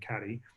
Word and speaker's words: Cady: and Elizabeth Cady Stanton I just learned to pronounce it Katie Brennan Cadi spearheaded a petition drive